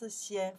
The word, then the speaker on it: 先: This character we pronounce xian from the lesson one, part one.